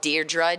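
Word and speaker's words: Deirdre: did say my name they never said it right I'm called deardra um uh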